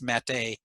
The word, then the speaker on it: MATE: accent on the end for years i thought it was mate but then i was corrected it's mate fedora is another uh